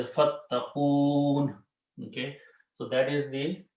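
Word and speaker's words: فاتقون: When you stop at the ayat, you do not pronounce this kasra, you say fattaqoon.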